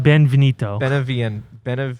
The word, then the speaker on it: Beneviento: It's Donna Beneviento. It's like it sounds Italian. Yeah, it's Italian.